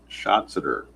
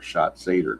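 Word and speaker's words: Schatzeder: And now Dan Shotser, or Shotser, depending on how you want to pronounce it.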